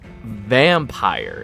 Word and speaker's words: Vampyr: For today, it's Vampyr is how I pronounce it.